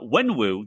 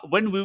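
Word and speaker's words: Wenwu: the official announcement of this trailer okay uh when woo that's that's that's um shang chi's father in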